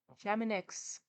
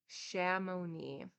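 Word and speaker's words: Chamounix: Excursion to the valley of Shaman shamanix that is absolutely not how you pronounce it Shamone shimoni I'm just I'm getting farther and farther away shamoni thank you I was actually almost close with that that last one thank you for the pronunciation Shamone make an Excursion to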